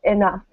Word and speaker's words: enough: This is pronounced enough. So it's almost like the GH is an F.